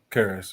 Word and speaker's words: Karras: Karras, yeah.